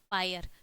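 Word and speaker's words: pyre: आर ई ठीक है पी वाई आर ई यहां पे क्या है आपका पायर ठीक है अब पायर मतलब आपका क्या हो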